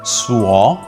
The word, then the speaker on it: Suo: I've heard a lot of people pronounce Suo as so. It's not so. So you have to make sure that you pronounce the letter U and the letter O separately. So it's Suo, then you put them together, it becomes Suo Ming.